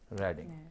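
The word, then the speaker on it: Reading: लिखे लोग भी लेडी रीडिंग हॉस्पिटल कहते हैं लेडी रीडिंग हॉस्पिटल नहीं है लेडी रेडिंग हॉस्पिटल स्पेलिंग उसके आर ई ए डी आई एन जी ही है लेकि ट इ लेडी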